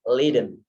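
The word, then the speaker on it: lijden: Nah, sangat populer sekali yaitu Leiden is Leiden. Tulisannya berbeda tapi sebutan pembacanya sama ya.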